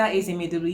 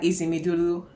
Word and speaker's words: Ezemedolu: Hi guys, Linda Ezemedolu here. Welcome back to my channel. In case you are new here, thank you for clicking on this video. My name is Linda Ezemedolu.